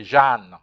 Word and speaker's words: Jeanne: You'll notice how you pronounce Jane. You say Jeanne.